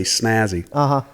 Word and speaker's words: SNASY: Well, everybody wants to add an extra S in there when you just say Snazzy. But it stands for Special Needs Assistance Station for You. The for is silent.